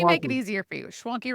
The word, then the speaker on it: Schwanke: Schwanke rhymes with donkey.